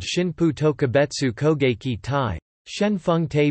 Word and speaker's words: Shinpū: Shinpu is the on reading, aniomi or Chinese derived pronunciation of the same characters that form the word kamikaze in Japanese.